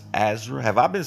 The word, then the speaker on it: Ezra: It's Ezra. Have I been saying your name wrong? Oh, you said you've been Eraza.